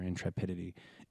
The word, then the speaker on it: intrepidity: it's a funny word it took me a long time to figure out how to say it right so people like intrepid e orange at that I know it's intrepidity so what is that